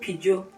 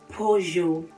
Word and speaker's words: Peugeot: Please, it's not Peugeot. It is Peugeot.